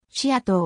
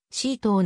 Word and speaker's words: SEATO: であったなお略称のし野党は日本ではし野党またはせ野党と読むが英語圏では主に c 棟などと読むマニラで